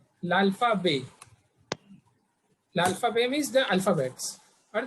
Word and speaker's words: l'alphabet: T is silent here. L'alphabet.